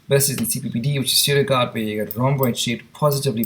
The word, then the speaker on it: pseudogout: P is for pseudogout, it's a misnomer there. P is silent.